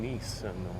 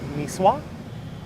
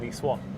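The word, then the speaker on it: Niçois: that you're from here you're nisswa i think is how it's said it's funny i was at first i thought it was nicean but nicean is from the middle east from uh jesus's time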